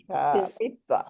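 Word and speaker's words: pizza: पित जा पित्सा पित्सा पित्सा ये त ये देखो आप प्रोनंसिएशन पढ़ सकते हो हम ट टी दिख रहा है यस मैम यस तो पित्सा ओके पिसा तो ये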